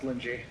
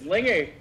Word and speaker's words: Lingy: I know I did not just hear my name pronounced Linji. Lingy? What? I know I did. It's Lingy.